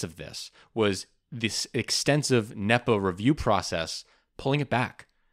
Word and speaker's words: NEPA: And this is I think it's usually pronounced NEPA.